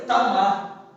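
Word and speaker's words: תמר: A palavra para palmeira no hebraico, ela se pronuncia tamar e quer dizer florescente.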